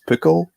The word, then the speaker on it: pukkel: Yeah, but it's pronounced as pukkel, not pukal.